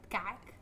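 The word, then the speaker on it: kaak: Kak. See, I I've tried so many times to say that word. It's spelled K A A K. In my accent, it does not sound like that.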